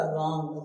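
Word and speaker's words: wrong: अगर कोई स्पेलिंग रोंग पूछे तो डब्लू से स्टार्ट करना। डब्ल्यू आर ओ एन जी होता है। लेकिन जब बोलना है तो कहां से बोलना है? आर से। क्या हो जाएगा? रॉन्ग।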